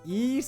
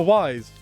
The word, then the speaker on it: Ys: ease come from GRE because it's because it's pronounced is ease and spelled with like a y so I